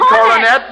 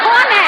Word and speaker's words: Coronet: You would read Coronet. Coronet, the Pocket Magazine. Your best bet. That's very good. I thought you said cornet. I said coronet, 3 syllables, just as plain, Mrs.